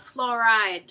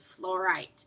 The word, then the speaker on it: fluorite: Not fluoride, fluorite with a T instead of a D. T as in Tom instead of a D as in David.